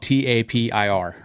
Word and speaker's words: Tapir: But it's spelled T-A-P-I-R.